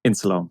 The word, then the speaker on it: Insuleoin: Insuleoin? Insuleoin. There we go. INSULEOIN. So it's supposed to be insulin and my name.